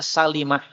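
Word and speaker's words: سلِمة: Di sini dibaca salimah. Kaidahnya adalah semua kata-kata salamah dibaca dengan lam yang difathah kecuali Bani Salimah. Maka kalau Bani Salimah dibacanya pakai lamnya dikasrah. Kalau Ummu Salamah ya.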